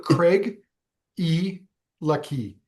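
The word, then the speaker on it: Craigellachie: It's It's Craig. Craig e lucky. So, Craigiliki, um, yeah, it's a it's a weird one, but there's a cool Canadian connection to the distillery.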